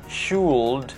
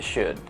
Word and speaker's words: should: Semua bunyi L yang saya garis bawahi itu tidak dibaca sama sekali. They don't pronounce that. Jadi bukan could tapi dibaca could, bukan should tapi dibaca should, bukan would tapi dibaca pendek, semua dibaca would.